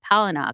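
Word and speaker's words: Palahniuk: quotes in here from Chuck palino and like that's how you pronounce his last name like from The Fight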